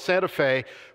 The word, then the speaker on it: Santa Fe: It's spelled Santa Fe, but in Tennessee it's pronounced Santa Fe.